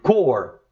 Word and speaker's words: Corps: Armstrong joined the NASA, novamente, Astronaut Corps, in 1962. Como eu errei na pronúncia, falei Corps, não, eu acertei.